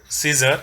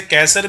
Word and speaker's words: Caesar: तो यहाँ पर जो वर्ड है सीजर, इसे कैसर भी बोलते हैं क्योंकि ये वर्ड बेसिकली लैटिन से लिया है, so this has the different pronunciation. Greek में इसको कैसर कहते हैं और लैटिन में this is called सीजर, right.